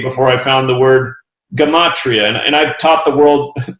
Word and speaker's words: Gematria: So it's Gematria. Even the pronunciations like on YouTube and say Gematria.